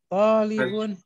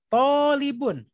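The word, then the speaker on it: طالب: Talibun. Ana talibun. Bukan talibun, bukan. Talibun. Talibun. To-nya panjang.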